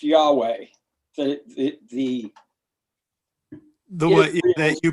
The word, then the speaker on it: Yahweh: The four letters pronounced Yahweh.